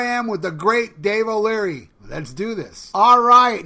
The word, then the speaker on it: O'Leary: got with me Dave O'Leary how you doing Dave good brother how are you man I'm doing great I pronounced your name right yeah you sure did alright cool man so